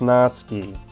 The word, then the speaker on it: Natsuki: Made Me cupcakes and everything I know it's pronounced natski I like saying natuki okay that's me that make me promises you